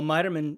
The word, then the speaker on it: Miterman: And, well, Miterman rhymes with Schneiderman, so that's perfect for Stephanie.